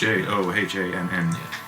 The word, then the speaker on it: Johann: Oh, it's Johann. Soft G. Soft J.